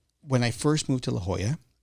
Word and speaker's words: La Jolla: I first moved to La Hoya I mispronounced La Hoya it was LaLa and it's funny 20